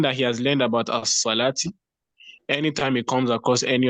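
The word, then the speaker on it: الصلاة: lam comes before sod, that lam is not pronounced, but the sod is immediately pronounced with the shadda. Do you get? So that thing that he has learned about as-salati, anytime he comes across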